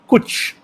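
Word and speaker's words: cwtch: and that word is coach which i think is spelled c-w-t-c-h is that correct sir kuch and it it's a lovely word it sounds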